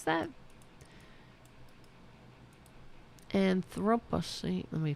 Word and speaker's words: Anthropocene: Is that how you pronounce that? Anthropocene. Let me pronounce it. That's it. Thank you. Let's play that again. An Anthropocene.